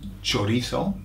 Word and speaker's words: chorizo: Now I'm saying chorizo because I'm making the Z into a th, okay?